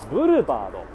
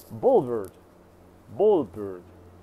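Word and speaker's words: Boulevard: けど、これは実はブルバード、日本語で言うと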